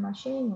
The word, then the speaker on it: machine: 他只不过他稍稍改了一下发音，machine 啊，当了 before 大裤带